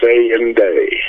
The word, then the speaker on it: Saynday: And Saynday is spelled S-A-Y-N-D-A-Y, Saynday. Saynday.